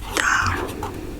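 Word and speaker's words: 大: Yeah, so the pronunciation of this altogether is just a combination of the pronunciation of each character. For example, this is da.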